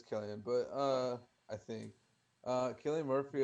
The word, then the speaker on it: Cillian: Yeah, it's Killian, but I think.